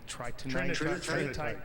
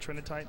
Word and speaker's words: Trinitite: Tri tritite. Trinitite, that's how you say it.